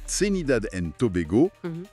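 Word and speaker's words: Trinidad and Tobago: Et je précise bien la prononciation Senidad and Tobego. Voilà, pas d'erreur là-dessus.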